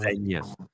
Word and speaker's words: Zegna: I think it's pronounced Senya.